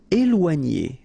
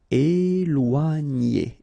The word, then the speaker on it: éloigner: Okay, so here you've got this accent aigu on the top of E, so you will get the sound E, okay? And after that you've got this OI, OA, and then G and together, N. Éloigner.